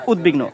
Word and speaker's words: উদ্বিগ্ন: যেমন লক্ষ্য করো উদ্বিগ্ন। এখানে য দ এর সাথে ব যুক্ত হয়েছে। এটা হল উত উপসর্গ সেক্ষেত্রে কিন্তু বফলায় উচ্চারণ হয়েছে। অর্থাৎ উদ্বিগ্ন।